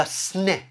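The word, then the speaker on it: סנה: hallelujah amen you see in hebrew they call this burning bush the sneh tree okay that's how it's spelled that's how it's also pronounced the snake tree notice how the word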